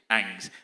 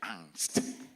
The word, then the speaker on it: angst: My dear brothers, colonial anst how depend on how you pronounce it if you're American is angst if you are British anst yeah anxiety the suffering